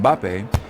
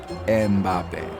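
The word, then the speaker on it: Mbappé: the same reason that when English commentators talk about the French footballer Killian MBA they often find themselves inserting a third syllable to make it more pronounceable MBA ah it's because in English starting a word with an m and a b next to each other is just not done so people find themselves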